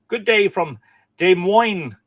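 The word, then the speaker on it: Des Moines: Mark Gordon is saying, "Good day from De Moine." Is that how you say it? I We had this conversation before, didn't we? It's not Dez Money's Dez Moes. I think it's De Moine, isn't it?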